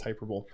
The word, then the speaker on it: hyperbole: It is pronounced hyperbole.